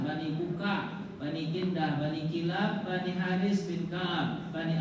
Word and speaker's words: Kilab: Kalab atau Kilab ya. Bacanya Kilab, ada bacanya Kalab.